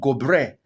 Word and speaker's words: Gobir: That is not Goba. That is called Gobre.